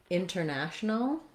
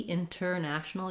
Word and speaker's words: international: For example, in a word like international, I either will say it with a true T, international, you'll hear that T. Often you'll hear international. Often you'll hear that said more like international. So this one, international, is not technically correct in the dictionary, but many native speakers use that.